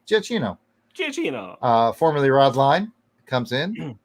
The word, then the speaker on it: Giacchino: Incredibles music was composed by Michael Giacchino. That's probably how it's pronounced. Giacchino.